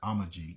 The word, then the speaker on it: Amazigh: So in Tripoli, Libya, you had the Amazigh, so Amazigh, and Amazigh basically that Z is pronounced more like a G, so it's more like Amajig.